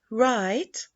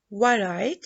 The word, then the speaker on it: right: Silent W, just like right. As you see, we can say right, it is right.